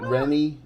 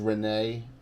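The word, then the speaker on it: Rhennee: Do you know that Rennie is Renee? I never knew that. It's Renee. I mean, is it Renee? Is that what Icarus is saying? Because he's kind of the expert. Yeah, and we've called it Rennie all along.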